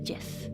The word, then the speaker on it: GIF: It's a hard G in GIF. It's a hard G in GIF.